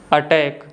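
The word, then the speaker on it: attack: और last one है अटैक। तो जो साइलेंट सी के जो दो रूल्स हैं बहुत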